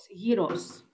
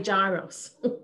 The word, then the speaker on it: gyros: the the greek heroes heroes we'll have to pronounce it heroes heroes uh it is the americans say gyros yes well you must be american in me